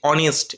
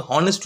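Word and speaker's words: honest: এখানে এ বসেছে দেখো তারপরটা দেখো কি আছে অনেস্ট এটা কিন্তু হনেস্ট উচ্চারণ হয় না ওই জন্যই বললাম যে উচ্চারণ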